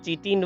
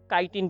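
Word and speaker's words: chitin: The cell walls of fungi are composed of काइटिन and polysaccharides. कई लोग चीटिन word भी यूज करते, pronounce करते हैं, काइटिन भी कह सकते हैं।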